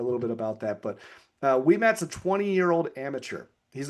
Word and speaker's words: Ouimet: a dude named Francis Ouimet. It doesn't look, by the way, if you're like Ouimet, that's a French spelling. It starts with an O because they pronounce their syllables all wrong.